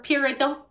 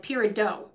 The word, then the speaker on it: peridot: is it period or peridot okay you know it's it's period with a t at the end of it i am